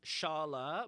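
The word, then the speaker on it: Çağla: And this is Shala, but spelt with Cagla.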